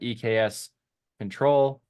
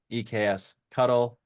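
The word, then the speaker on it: eksctl: We also would have accepted EKS control, EKS cuddle, EKS cuddle, and EKS cuddle, since no one knows how to pronounce it.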